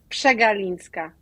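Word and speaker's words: Przegalińska: name uh but her last name is actually pronounced chinska thank you Alexandra Alexandra is the senior research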